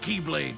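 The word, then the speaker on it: χ-blade: he means the x-blade it's just pronounced like keyblade even though it's just one keyblade ah the series is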